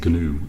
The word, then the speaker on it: GNU: The G is actually pronounced in GNU, I believe.